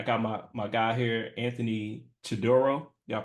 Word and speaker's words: Chidoro: And I got my guy here, Anthony Chidoro. Y'all pronounce that last name right?